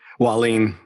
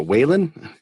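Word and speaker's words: Wahlin: Dan and Merritt Christianson I always think I say Dan's Nate last name wrong wah lean wah lean Dan why lean yep a lot of people want to say some really read that and think it's a Whelan but I always want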